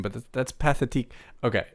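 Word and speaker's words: Pathétique: We At first, I was like, okay, I can trust this YouTuber's pronunciation, but that's Pathetique.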